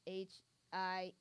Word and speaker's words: Hiei: It was Hihei, or I think it's I don't know how to pronounce his name. It's Hiei.